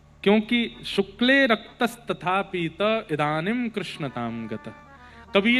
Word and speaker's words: कृष्ण: कृष्ण, इस शब्द का उच्चारण कई लोग शुद्ध नहीं करते, क्योंकि शुद्ध कर लेंगे तो फिर भगवत प्राप्ति हो जाएगी। इसलिए सब लोग इस नाम को, कोई किशन बोलता है, कोई कृष्ण बोलता है, कोई कुछ बोलता